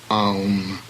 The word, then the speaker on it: aum: AU is a diphthong, as in house, hence aum.